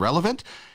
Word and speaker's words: Relevnt: So all you have to do is download the app from Relevant. And remember, the last E is silent. So it's RELEVNT.